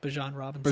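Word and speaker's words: Bijan Robinson: I heard you properly pronounce Bjan Robinson. Bjan Robinson. Man, it's he he is His name does not rhyme with a variety of mustard.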